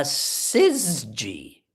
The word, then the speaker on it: syzygy: And it's called, speaking of words, a syzygy.